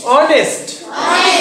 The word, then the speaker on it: honest: আরেকটা দেখো HONEST অনেস্ট। তাহলে এখানে এইচ এর উচ্চারণ হচ্ছে নাকি হচ্ছে না? হচ্ছে না। তাহলে এখানে এইচ এর উচ্চারণ হচ্ছে না, তাহলে অনেস্ট।